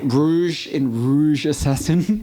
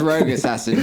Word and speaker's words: Rogue Assassin: Rouge Assassin. Sorry, it's Rogue Assassin, people. I'm sorry. That's a very unnecessary in joke involving a friend who consistently pronounced it as Rouge Assassin.